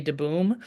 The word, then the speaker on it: DeBoom: His name is Boom, which is a nickname for his full name is Jay DeBoom, Okay. and which DeBoom pronounced de boom would be Dutch for the tree, if you're Oh.